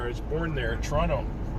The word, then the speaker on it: Toronto: was born there in toronto i think i pronounced it correctly as well without the t it's the middle the